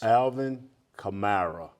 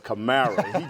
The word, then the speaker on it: Alvin Kamara: Alvin Kamara. Did I pronounce that right? Yes, you did. I said Kamara place. Kamara.